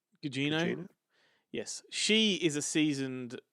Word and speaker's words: Gugino: Whereas, you had particularly Michelle Yeoh and was it Carla Guingo? I don't know how to pronounce her name. Gugino.